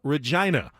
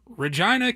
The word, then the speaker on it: Regina: tourism slogan it was Regina Canada the city that rhymes with fun clever give that to